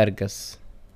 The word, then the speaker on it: أرقص: Example: أبي أرقص. I want to dance. Please note that the قاف we pronounce it as ga, so that's why أرقص has become أرقص.